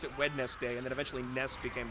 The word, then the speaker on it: Wednesday: we all pronounced it wedes day and then eventually NES became their nickname I think it was them specifically that said they wanted it pronounced wedness day I'm trying to remember